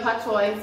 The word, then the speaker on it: Patois: Some persons spell Patois, P-A-T-O-I-S. Some persons spell it P-A-T-W-A. Some persons spell it P-A-T-W-A-H.